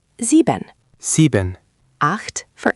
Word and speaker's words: acht: It's a sound that doesn't exist in English, so it takes practice. Imagine you're trying to say h, but with your tongue a little further back in your mouth. Not quite a k.